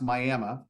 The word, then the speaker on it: Miami: this particular instance this property in and it's pronounced miam but it's Miami Oklahoma it's a smaller town